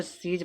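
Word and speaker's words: siege: इसको सीज पढ़ा।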